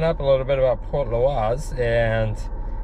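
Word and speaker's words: Portlaoise: Port Loise. Port Loise.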